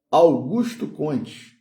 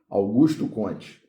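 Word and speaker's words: Augusto Comte: Augusto Cones, né? Na no no português aí, né? Que o nome dele, por ele ser francês, não era pronunciado dessa forma, né? A gente a portuguesou. Augusto Conte.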